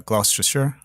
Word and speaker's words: Gloucestershire: this because it it you pronounce it not as it is read or as it's written but uh gloucestershire yeah yeah that's right